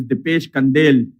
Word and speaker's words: Dipesh Kandel: I've just been informed that his name is Dipesh Kandel. So we have been saying his name wrong all along, Dipesh Kandel.